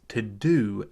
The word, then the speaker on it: TeuxDeux: Okie dokie folks, so this itself is TeuxDeux. Now, as I said, TeuxDeux is spelled T-E-U-X-D-E-U-X.